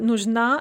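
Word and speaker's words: нужна: in the dative yamu note the stress shift nujin is stressed on the first syllable but nujna is stressed on the second syllable and then if we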